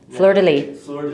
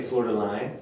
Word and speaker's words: fleur-de-lis: to be french i always say it wrong fleur-de-lis thank you i was going to say florida line because uh florida line i think i don't